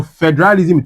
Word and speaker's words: federalism: So, federalism will be fe de ra li sm. Because it ends with SM, the stress will be what? At the first syllable.